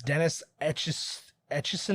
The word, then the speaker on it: Dennis Etchison: And a science fiction writer, I'm gonna get this name wrong. It's Dennis Etchison under.